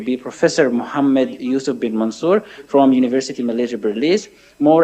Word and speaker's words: Mansour: Muhammad Yusuf Mansour, not Mansur, Mansour, okay.